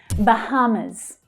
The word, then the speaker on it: Bahamas: Bahamas. Bahamas. Usually said the Bahamas. So the stress is on the second syllable there.